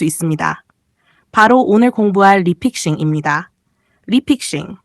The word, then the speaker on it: refixing: 리픽싱, 영어로는 refixing, 리픽싱이라고 읽습니다.